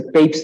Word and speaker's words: Papez: de las emociones o circuito de Papez, que puede pronunciarse Pepys también, circuito de Pepys, se escribe Papez con Z al final, que es este sistema